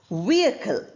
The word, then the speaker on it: vehicle: Similarly the last word is pronounced as vehicle.